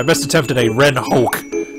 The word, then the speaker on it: Hoek: My best attempt at a Ren Hoek, or Hoek, I think is how you say his last name.